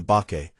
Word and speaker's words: bake: They compared the fish to bake mono, shape-shifting monsters from Japanese mythology, which is how the fish earned the bake, pronounced bake, suffix in its name.